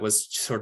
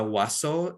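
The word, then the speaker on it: huaso: then he was tortured and murdered and that was sort of to create a statement that we will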